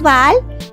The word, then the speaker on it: Baal: poquito en contexto dios el dios baal se pronuncia como vale es un dios cananeo